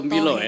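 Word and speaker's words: Tumbilotohe: Jadi pengucapannya itu ya Eza dan juga sahabat budaya, Pak Alim dan juga Ustadz, itu Tumbilo. Iya, ya? sekali Tumbilo lagi Tumbilo Tohe. ya, jangan sampai salah.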